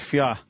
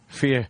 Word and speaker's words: FYI: Just fia. Fia. I don't pronounce the I too harshly there.